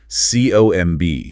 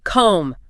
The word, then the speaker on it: comb: The B in comb is completely silent. So it rhymes with home or roam. Exactly. Comb, home. You should never, ever hear a boo sound at the end, not comb.